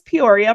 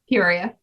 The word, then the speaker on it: Peoria: Did I pronounce Peoria properly? Yep. That's how you say it. How do you pronounce it? Peoria. Okay. I was wondering if there was I got a Midwestern accent, so that's the only difference between the way I say it and the way you say it.